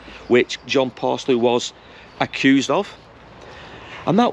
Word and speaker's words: Paslew: name was John and I think it's pronounced parsley p-a-s-l-e-w I'll put his name